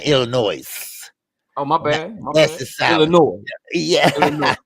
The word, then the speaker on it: Illinois: Illinois. Yeah. Illinois. The S is silent.